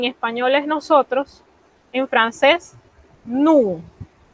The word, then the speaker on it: nous: En español es nosotros, en francés, nous. Noten que la S me la he comido, como decimos en buen panameño. Ella no se pronuncia a menos que encontremos un caso especial que más tarde se los voy a explicar.